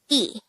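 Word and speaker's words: 이: one which is ill to make it e pronounce this with me e how do we spell e in hango it's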